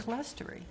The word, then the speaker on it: clerestory: and I thought it was CLERSTORY.